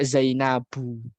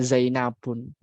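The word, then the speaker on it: زينبُ: Termasuk juga Zainabu, ya bukan Zainabun.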